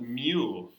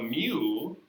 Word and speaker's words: mu: but mu okay it's a u call it mu all right um this is the population mean mu pronounced i don't know it's the population mean